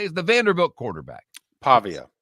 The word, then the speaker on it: Pavia: Pavia. Pavia.